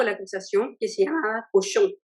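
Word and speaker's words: Cauchon: acusación, que se llamaba cochon. Cochon en francés es cerdo, pero claro, es un alcance de nombres, porque en verdad es cochon, pero se escribe de distinta manera del cochon de cerdo, pero es chistoso, así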